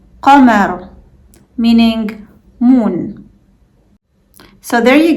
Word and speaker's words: قمر: قمر, قمر, meaning moon. So there you go. Now you know how to pronounce GHAIN, AIN, and Qaf.